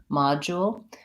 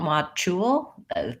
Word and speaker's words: module: you're hearing is that the letters D u and this word actually say Jeff the Jeff sound MA so we have mod and kind of a D mod jewel with an O so you want to be careful not to use a CH there you don't want mock